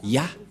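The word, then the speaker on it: יה: Ça se prononce Ya.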